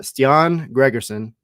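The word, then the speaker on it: Stian Gregersen: Day for media uh ston Gregerson that is the pronunciation by the way we verified that he he told us himself ston Gregerson um and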